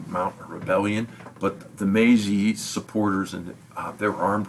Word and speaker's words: Meiji: And when he came to power, his nickname was the Meiji, or the Meiji actually is the way you pronounce it, which means the enlightened one.